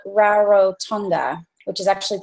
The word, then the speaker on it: Rarotonga: I'm in the Cook Islands, just like when you cook food, and I'm on an island called Rarotonga, which is actually pronounced Rarotonga.